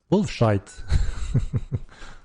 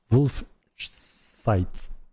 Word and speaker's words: Wolf Sight: henrik hello egg phone wolf shite is the famous guild wolf sight that i always mispronounce guys show us a